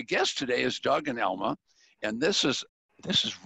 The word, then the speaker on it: Elma: for you and some reminders but Doug and Elmyra am I saying it right am I say your name right Elma Elma right Elma yeah let me write it down if I